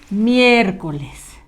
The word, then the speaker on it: miércoles: Vamos a escribir la palabra miércoles. De preferencia, la mayúscula hazla con color rojo. Con la I, ¿verdad? Acento en la E, primera.